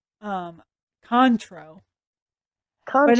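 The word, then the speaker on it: Cointreau: a classic cocktail oh yeah it says Baka coin tro which is probably not how you say that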